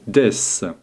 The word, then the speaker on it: です: Des, prononcé des, est un nom un peu particulier.